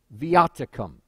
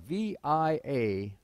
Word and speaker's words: Viaticum: Viaticum. That's spelled V-I-A-T-I-C-U-M.